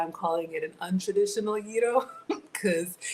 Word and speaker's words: gyro: This summer was Egypt, last summer was Greece, and I had a proper gyro. That's how it's pronounced.